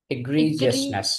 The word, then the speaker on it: egregious: egregious, egregious, egregiousness.